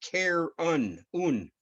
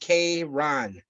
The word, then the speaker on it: Charon: universe who was Karen Karen pronounced care unknown or pronounced Kay ron was the regular bolt